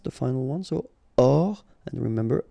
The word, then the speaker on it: hors: Hors ligne, final here not pronounced, so ligne, and then here S is not pronounced, the final one, so hors, and remember H doesn't exist, so hors ligne.